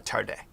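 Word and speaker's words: Tade: is t uh t-a-d-e but it's pronounced tarde yeah yeah and her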